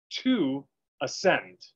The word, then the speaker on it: 2axend: and how it's spelled it's to axend but it sounds like " to ascend."